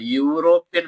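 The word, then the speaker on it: European: Letter ആണ് കിടക്കുന്നത് എന്നാൽ ഇതിന്റെ ശബ്ദം ഇങ്ങനെയാണ് എഴുതുന്നത് യൂറോപ്യൻ എന്നാണ് യ ആണ് അപ്പോ എ യൂറോപ്യൻ ഡാഷ് ഇയർ നമ്മൾ ദാ ഇങ്ങനെ ഈ ഇങ്ങനെ ഇട്ടു കഴിഞ്ഞാൽ ഇ എന്ന് വായിച്ചു കഴിഞ്ഞാൽ തെറ്റിപ്പോകും.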